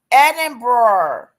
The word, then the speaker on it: Edinburgh: Edinburgh Edinburgh It pulled it right up.